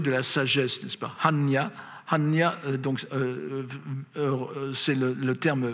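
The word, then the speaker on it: 般若: Et c'est amusant parce qu'en chinois moderne, on prononce ça Poja, ce qui ne ressemble plus du tout au terme sanskrit, alors qu'au Prakrit, en japonais, on le prononce Hanya, vous voyez, et c'est presque la même chose. Enfin, autrefois, ça se prononçait Panya.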